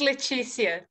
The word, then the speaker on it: Letizia: Is it Letizia? I know we've met, but I don't know if I remember how to say your name. It is Letizia.